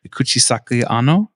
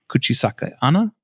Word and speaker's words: Kuchisake-onna: Kuchisake Onna. Kuchisake Onna. There you go. Kuchisake Onna.